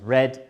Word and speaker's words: read: For example, eat becomes ate, read becomes read, even though the spelling is the same, and buy becomes bought.